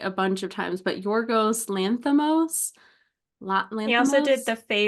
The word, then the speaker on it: Yorgos Lanthimos: I didn't watch the Oscars where I'm sure they pronounced his name like a bunch of times, but Yorgos Lanthimos.